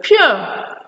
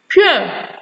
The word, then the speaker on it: pure: Most words that have that spelling symbols in them are pronounced with the word sound. We have the word pure. Pure, not pure. Pure.